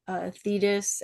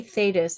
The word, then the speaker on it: Thetis: Was there anything else that you wanted to like bring up or say about Thetis and Achilles? You say Thetis, I say Thetis. I feel like American and English pronunciation, particularly on classical words, is notoriously yeah,